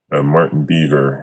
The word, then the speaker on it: Martin Beaver: Martin Beaver is the correct pronunciation, and I apologize to his family, and certainly as we adjourn, we do so in Martin's honor.